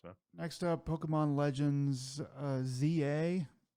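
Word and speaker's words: Z-A: Next up, Pokemon Legends ZA. It's not Z2A, it's ZA, I think is how it's pronounced.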